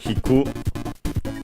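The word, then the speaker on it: 引く: The other part of the compound is hiki from hiku. I think unaccented, but we'll check. Yes, unaccented.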